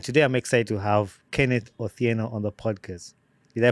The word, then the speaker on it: Kenneth Otieno: And today I'm excited to have Kenneth Otieno on the podcast. Did I pronounce the name right?